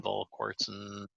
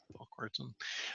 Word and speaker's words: Volquartsen: I got one of the first, can't pronounce that. Volquartsen? Volquartsen. Yeah, Volquartsen.